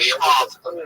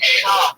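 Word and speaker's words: Schaub: Don't say Schwab. I'm saying it wrong? Yes, it's Brendan Schwab. Like it's a Schwab name.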